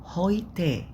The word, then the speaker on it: heute: heute. heute عشان ايه ت ايه. هوي ليه قلنا اوي؟ ال اي او او الاي يو بالانجليزي اي يو او الاي او في الالماني بتنطق اوي. اوي هوي هوي.